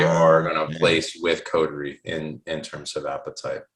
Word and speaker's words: Coterie: so so when somebody comes um to uh coterie it's codery yes yeah okay all right i think i